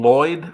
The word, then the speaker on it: Lloyd: we get the name Lloyd from well it's p no it's so if you press the tongue to the ru of your mouth and blow blow down the right hand side of your tongue I'll have to practice